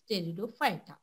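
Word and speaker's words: Pteridophyta: टी थॅलोफायटा ब्रायफायटा टेरिडोफायटा इथे टी जो आहे तो सायलेंट आहे प्रोनाउंसिएशन मध्ये हे लक्षात घ्यायचं आहे की टी सायलेंट आहे त्यामुळे इथे टेरिडोफायटा तर हे तीन जे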